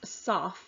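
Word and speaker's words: סַף: We see it's the Hebrew word kaf, or pronounced saf, a basin or a goblet.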